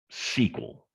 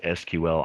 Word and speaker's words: SQL: since you've seen that even if you've never seen a sequel and you'll hear sometimes it pronounced sql i particularly uh have an annoying habit of bouncing back and forth between these pronunciations generally speaking folks that work in the database world call it sql and um but like